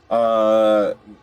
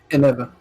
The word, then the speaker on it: Eneva: So when Terry is sleeping, Envea. Is that how you pronounce it? Eneva. Eneva. I was close. I just switched up the E and the V.